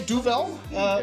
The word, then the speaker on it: Duvel: say Duvel, you can say Duval. You can say Gaivel. So So Duvel dialects to devil in Flemish.